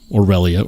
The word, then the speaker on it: Aurelia: I reviewed his aelia Orelia aelia is how he says it so I'll say it like that um I I reviewed